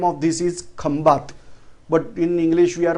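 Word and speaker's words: Khambhat: Actually, name of this is Khambat, but in English we are pronouncing as Kambai.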